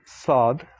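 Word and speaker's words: ص: have the letter sod saad like saduk sadak so the first letter is basically similar to an s but more like a heavy s when you pronounce this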